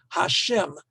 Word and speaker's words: Hashem: Yud He Vav He, the name of God, which you do not pronounce, is said to be the personal name of God. For rabbinic tradition, the two most important names that we associate with God, Elohim, which is more descriptive, as it were, and Yud He Vav He, which you in Art Scroll and in many Orthodox circles is always pronounced as Hashem, which means the name,